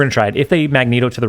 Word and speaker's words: Magneto: no no really Martin I know it's Magneto um for whatever reason Bings thinks it's really funny to pronounce it Magento and I I saw